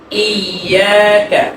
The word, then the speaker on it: إياك: তারপরে ইয়া আর ওয়াও, এই দুইটা হরফ হচ্ছে লিনের হরফ। এই দুইটা হরফকে নরম করে করতে হবে। অনেকে পড়ে ইয়াকা না'বুদু ওয়া ইয়াকা, মানে শক্ত করে। এখানে শক্ত করা যাবে না। কিভাবে করতে হবে এটা খুব ভালো করে শুনেন। আমি সবার থেকে আবার শুনবো। কিভাবে পড়বেন? ইয়াকা বলেন কি? إياك আরো সুন্দর করে ইয়াকা إياك ইয়াকা।